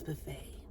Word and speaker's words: buffet: like it's Buffet it's Buffet I'm like but there's a tea he's like the tea is silent I'm like you're right